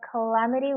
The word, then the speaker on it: calamity: The fire was a calamity with heavy damage. 네, 혹시 해석도? 이 화재는 큰 손상을 가져온 재앙이었다. 네, 맞습니다. 자, 여기 같은 경우는 여기에 강세가 있기 때문에 calamity라고 읽어요. 여기 같은 경우는 강세가 여기 있기 때문에 damage라고 하는 거.